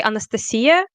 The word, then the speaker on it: Anastasiya: Well, it's basically like you say Anastasia instead of whatever that was.